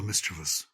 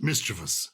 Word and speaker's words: mischievous: How do you spell mischievous? mischievous. So it is mischievous.